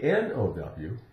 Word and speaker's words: know: that piece of Pi KN n o w no now that means I know something I have knowledge of something which also knowledge begins with KNN so keep in mind the K is silent in words that begin